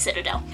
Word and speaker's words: Citadel: I was like Citadel it's it's Aly it's Citadel so thank you for anyone that told me how to pronounce it but it hit me long after